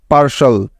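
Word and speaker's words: partial: যেমন দেখো, TIAL, এই ওয়ার্ড প্যাটার্নটির উচ্চারণ সবসময় হয় শল, শল এর মতো। বুঝতে পেরেছ? মনে থাকবে তো? তাহলে এই শব্দটির সঠিক উচ্চারণটি কি পেলাম আমরা? PAR, পার, এবং TIAL, শল, পার্শল, পার্শল।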